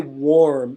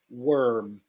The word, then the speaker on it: worm: We don't say worm, it's worm.